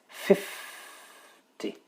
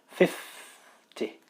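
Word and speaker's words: fifty: The stress for the first one here, number 1 here, the stress for this is on the first syllable, 50. So there's 2 syllables, 50.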